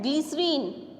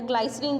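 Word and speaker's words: glycerin: Next है ग्लिसरीन, ग्लिसरीन जो होता है, या ग्लाइसरीन जिसको आप बोलते हो, ग्लिसरीन भी बोल सकते हो, ग्लाइसरीन भी प्रोनाउंस कर सकते हो।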